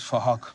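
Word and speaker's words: Phuc: His name is Fahok. We're spelt with a PH, so it sounds like Fahok.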